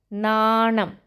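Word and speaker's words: നാണം: Then the word nanam. Na with the a symbol. It's a long sound. Na. Then na with the nam. Nanam. Nanam means shyness.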